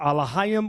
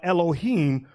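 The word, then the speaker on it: אֱלֹהִים: That terminology, God, which in the Hebrew they pronounce it Elohim or Elohim, which is plural.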